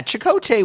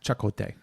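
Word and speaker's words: Chakotay: an idiot well yeah chot was so chakote was I'm sorry it's pronounced chakote shako was a um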